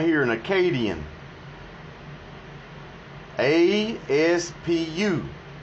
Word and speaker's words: Aspu: A-S-P-U. Aspu. That's how the accents over the words are pronouncing it.